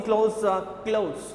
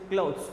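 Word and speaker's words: clothes: And thick about द middle, he is working क्लोथ्स, नॉट क्लोथ, इज द pronunciation is क्लोथ्स, okay.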